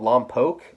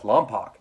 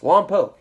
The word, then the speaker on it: Lompoc: you're going to Lompoc now it's really called Lompoc but if you know anyone that's done fed